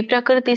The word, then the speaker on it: ಪ್ರಕೃತಿಂ: ಪ್ರಕೃತಿಂ ಪುರುಷಂ ಚೈವ ವಿದ್ಯನಾದಿ ಉಭಾವಪಿ ವಿಕಾರಾಂಶ್ಚ ಗುಣಾಂಶ್ಚೈವ ವಿದ್ಧಿ ಪ್ರಕೃತಿ ಸಂಭವಾನ್. ಉಚ್ಚಾರಣೆ ಪ್ರಕೃತಿಂ ಪುರುಷಂ ಚೈವ. ಕಕ್ಕೆ ಒಟ್ಟರು ಸುಳಿ ಇದೆ. ಪ್ರಕೃತಿ ಅಲ್ಲ, ಕ್ರ ಅನ್ನಂಗಿಲ್ಲ. ಪ್ರಕೃತಿಂ ಪುರುಷಂ ಚೈವ ವಿದ್ಯನಾದಿ ಉಭಾವಪಿ.